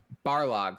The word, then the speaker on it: Barlog: Barlog.